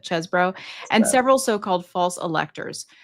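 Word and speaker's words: Chesebro: I was like, it always looks like cheese to me, but Chesbro, and several so-called false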